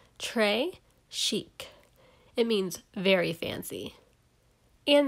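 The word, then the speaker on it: très chic: it like a bracelet trey chic you say it like this trey chic it means very fancy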